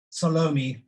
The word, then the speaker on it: Salome: Just to say, your pronunciation of the name Salome is, you know, technically absolutely correct. In South Africa, it's a much sort of flatter word, so that's why I call her Salome.